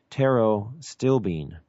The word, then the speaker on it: pterostilbene: to resveratrol in structure called Tarot stilbene and it's actually spelled with a P so P ter o stilbene and it's the natural